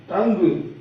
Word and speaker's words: tongue: U या फिर UGH की साउंड आएगी, बाकी साइलेंट रहेगा। देखते हैं, जैसे COLLEAGUE, कुलिग, LEAGUE, लीग, इसमें PLAGUE प्लेग, TONGUE टंग, FOUGHT fort, CAUGHT coat, BOUGHT boat, THOUGH दो, THOUGHT थोट, LAUGH लाफ।